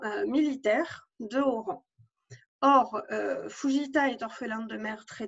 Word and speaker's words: Fujita: Normalement, dans son nom de famille, il n'y a pas de O. C'est Fujita, mais ça se prononce évidemment Fujita.